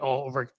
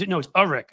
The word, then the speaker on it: Ulrich: Let me introduce Skyleigh Ulrich. It's Urich. I'm pronouncing your last name wrong. And it's because I've only Urich. See, look, I'm an idiot. I've only seen it in writing.